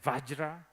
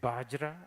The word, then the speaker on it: Vajra: Indians, they say Vajra. Nepali people say Bajra. And I think this is where Tibetans got Banzar.